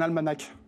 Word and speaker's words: almanach: Et je pense que c'est un almanach. Avec un H à la fin. Ouais. L'almanach. Bon, almanach. Oui, ça s'écrit almanach, mais on prononce pas le H.